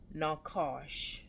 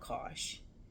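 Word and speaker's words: Nahash: it's a common name so I just want to see how I pronounce that Mahesh nah nakosh okay not Cosh the name of two persons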